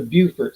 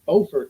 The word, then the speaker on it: Beaufort: And it was just close to Beaufort, South Carolina. Not to be confused with Beaufort, North Carolina, which is spelled exactly the same, pronounced differently.